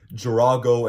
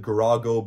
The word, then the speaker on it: Girago: super long neck um girago and giraffe both have the G that sounds like a j and again I pronounce it garago but most people don't